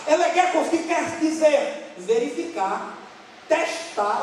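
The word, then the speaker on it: ἔλεγχος: No grego é legechos, ou elegekos. Porque esse H se pronuncia com som de K, elegekos, que quer dizer verificar, testar.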